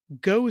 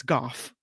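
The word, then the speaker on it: Gough: accident in San Francisco avoid taking go Street of course it's goof but I was thinking van go no it's Golf Street you would have never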